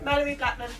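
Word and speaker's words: Malorie Blackman: Mallory Blackman.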